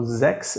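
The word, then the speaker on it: sechs: same here Z and be careful that you pronounce it Z because if you pronounce it like English six in German you would get sex it's also lovely but has nothing to do with the number six at all yeah so ZX and sex are two different things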